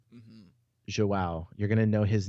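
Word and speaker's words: João: Man, Joao.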